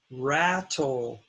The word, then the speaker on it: rattle: There are two syllables, rattle, and the first syllable is stressed, so it's going to be short, rat.